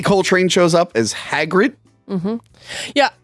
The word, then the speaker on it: Hagrid: as Hagrid mhm yeah I I like that you say it right but your spelling in your notes my my phone kept auto correcting to hagger no it's not even like mik hagger oh hagard like he's like hagard I gave up